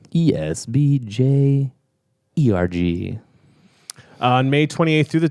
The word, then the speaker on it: Esbjerg: You didn't pronounce the J. That's why I said I don't know. It's ESBJERG.